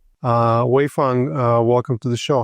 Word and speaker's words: Waifun: Uh, Wayang, uh, welcome to the show. How, how did you like my pronunciation of your name?